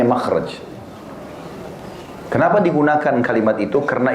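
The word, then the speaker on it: مخرج: Bahasa Arabnya itu mim, kha ra jim bacanya makhraj.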